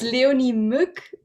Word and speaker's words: Leonie Mueck: for now don't worry about it so it's leonie mook but if that's hard only milk okay that's